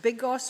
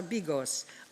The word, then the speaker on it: bigos: this community formed et I think you pronounce it biggis or bigos a meat and cabbage